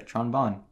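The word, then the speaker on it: Tron Bonne: yeah Tron is it you pronounce it Tron Bon or Tron bone Tron Bon okay that's what I cuz it should rhyme right yeah you can hang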